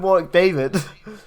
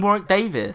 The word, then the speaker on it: Warwick Davis: You called him Warwick David. I called him Warwick Davis. You said David. No, I didn't. I said Davis.